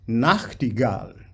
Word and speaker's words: Nachtigall: So Nacht is a bit more important than Gal, Gal is important. Nachtigall, right?